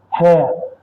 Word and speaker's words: hair: hair a hair strand Keep in mind the difference in their pronunciation. This is a hair. Here, the the H is pronounced. So, this will be This will be transcribed hair.